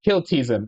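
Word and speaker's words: Kltpzyxm: can't say it forward it's hard made to pronounce it to say his name backwards it's kiltizon I remember because I watched Superman the animated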